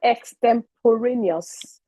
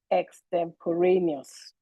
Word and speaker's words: extemporaneous: The word extemporaneous was not properly pronounced. The word is extemporaneous.